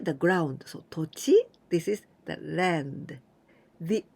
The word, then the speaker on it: 土地: This と this is 土 soil or 土曜日 like 土曜日土土曜日 but here we pronounce と and 地 the ground so 土地 this is the land.